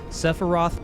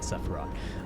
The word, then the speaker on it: Sephiroth: As I warned you, Sephiroth poses the most immediate threat. Sorry, I'll say it right, Sephiroth.